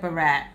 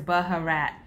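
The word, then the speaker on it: baharat: Barat spice Cusco salad I pray I say that right brat b-a-h-a-r-a-t I looked it up on Google it said Barat but the way that it's spelled it looks like it's Baja rat anywho it's a warm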